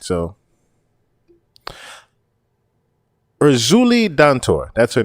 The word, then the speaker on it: Erzulie Dantor: So, Erzulie Dantor, that's her name.